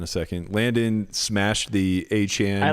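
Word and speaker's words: Achane: And let everybody know it's A-Chain. Yeah, he was just letting everybody mispronounce his name for years.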